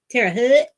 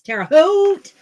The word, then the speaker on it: Terre Haute: how it's pronounced so they always say yeah Tara Hood I'm like no it's Terre Haute um we are gonna